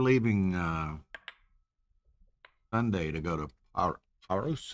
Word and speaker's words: Paros: They were leaving Sunday to go to Paros. Is that how you say it? They Paris? Paris? Paros. Not It's a, France. Not. it's a Aegean island, a Greek island in Oh, the okay.